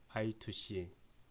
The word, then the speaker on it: I2C: 직렬 통신인데 보통 이제 이 이렇게 읽을 때 우리가 I2C 또는 다른 말로는 I square C, 그래서 I2C 혹은 I square C라고 읽습니다. 근데 뭐 I square C보다는 I2C가 이제 발음하기가 편하니까 I2C라고 얘기를 하겠습니다.